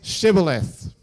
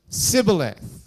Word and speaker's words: shibboleth: of Gilead would say, "All right then, say Shibboleth." And the scripture tells us that the people of Gilead couldn't say Shibboleth. They pronounced it Sibboleth.